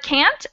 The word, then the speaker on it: can't: But can't will never get changed to the schwa sound.